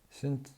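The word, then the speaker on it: sinh: 그리고 이제 코사인의 하이퍼볼릭의 0은 1이고 사인, 신치라고도 발음하는데 신 제로는 0 이렇게 되는 거죠.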